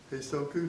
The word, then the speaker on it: Heisoku: Heisoku, notice how I got that to 3 syllables?